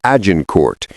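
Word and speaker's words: Azincourt: On October 24th, 1415, near the village of Azincort, which the English would pronounce as Ajin Court, the English army finally came to face to face with the French host.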